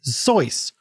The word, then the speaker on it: Seuss: friend of Dr Seuss the correct pronunciation is zoys which rhymes with voice or with a z